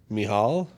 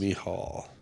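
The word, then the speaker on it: Michal: he would say me the CH is the same sound that Hanukkah is the CH of Hanukkah so H and then a mial mial I was the closest oh interesting y that is mial yeah it's a cool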